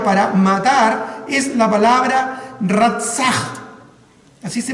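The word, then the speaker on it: רָצַח: la palabra hebrea para matar es la palabra rasa así se pronuncia el rap y esa palabra literalmente significa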